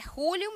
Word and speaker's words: Julio: Então, Julio, com essa pronúncia, que para nós aqui seria Júlio, mas é Julio mesmo, tá certo?